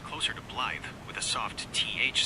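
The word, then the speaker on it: Blaidd: Actually, is the Welsh word for wolf and is traditionally pronounced closer to bllythe with a soft th sound like the. The double d in Welsh creates a voiced th sound.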